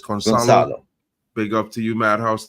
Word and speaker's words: Gonçalo: Madhouse is saying C is pronounced as an S in Portuguese, so it's Gonçalo.